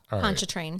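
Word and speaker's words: Pontchartrain: cases and there's the R is kind of silent. Yeah. Poncho train. If I didn't hear you say it earlier, I would have said the R.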